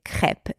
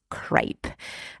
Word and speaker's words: crêpe: I guess but yes in the French version the E is pronounced e and not a crep and not crepe